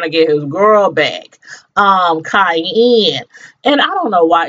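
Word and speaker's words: Kayanne: get his girl back, Cayenne. And I don't know why, it's funny. Her name is spelled, I think it's K-A-Y-A-N-N-E. But when I was taking down my notes, I spelled it like the seasoning.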